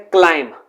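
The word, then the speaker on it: climb: Next है क्लाइम, इसे again हम बी को साइलेंट करते हैं। अगर हम इसे क्लिम्ब बोलते हैं तो वो रॉन्ग हो जाता है।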